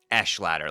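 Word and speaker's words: Echeladder: Is this etch etch ladder? Echelad like echelon. Okay, so it's like Echelon, but Echelad. Okay, got it.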